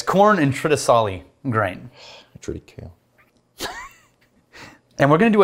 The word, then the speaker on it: triticale: Triticale? It might be triticale as well. Is it triticale? No, it's the C is pronounced like an S.